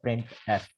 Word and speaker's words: printf: अच्छा, the function प्रिंट एफ is pronounced as प्रिंट एफ। जो प्रिंट एफ function है वो कुछ इस तरह से हम पढ़ते हैं, प्रिंट एफ।